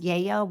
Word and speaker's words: Lello: It's pronounced Yayo, but just so you know what I'm talking about, Livraria Lello is actually a bookstore.